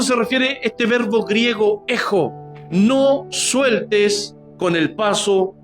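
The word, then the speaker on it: ἔχω: Y esa palabrita retén es un verbo griego que se pronuncia ejo, E-J-O, ejo, y significa tener, conservar y mantener continuamente.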